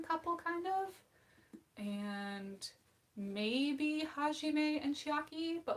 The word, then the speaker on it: Hajime: and ha he hajime i know how to pronounce his name hajime um and i don't honestly ship a lot